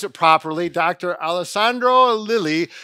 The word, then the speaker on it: Lelli: I hope I can pronounce it properly. Dr. Alessandro Lilly.